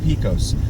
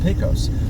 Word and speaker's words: Pecos: I say it both ways because I've had comments from folks telling me, you're a moron, it's pronounced Pecos.